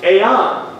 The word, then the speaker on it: aeon: The word world here is the Greek word aeon. A-I-O-N. Aeon is actually the way it's pronounced, but it's called age.